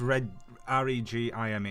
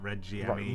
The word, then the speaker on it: regime: I think it's Regime, isn't it? Yes. Regime. Yeah, It's like that is it. spelled like regime, not Reggie Emmy.